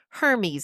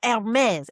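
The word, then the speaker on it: Hermès: And she goes, Hermes. And he's like, oh, no, Hermes.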